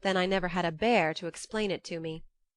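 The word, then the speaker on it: Bhaer: at his horrid name it isn't pronounced either bear or beer as people will say it but something between the two as only Germans can give it I'm glad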